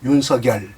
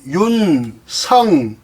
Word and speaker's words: 윤석열: 윤석열, 서쪽 할 때 서자, 결정할 때 결자, 윤석열이 정확한 발음이 되겠습니다.